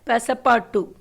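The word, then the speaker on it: Passepartout: This is the story of हाउ he travelled with his companion पैसापार्टू. Okay, UT is silent. This is a French word.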